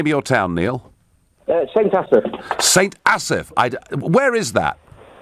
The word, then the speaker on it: St Asaph: How do I pronounce the name of your town, Neil? St Asaph.